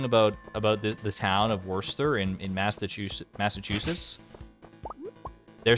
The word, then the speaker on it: Worcester: in there you can't don't tell me that R is silent them is fighting words you can't have a word like like Worcester have a silent R when we're worse when Worcestershire does not have the silent r that hurts my soul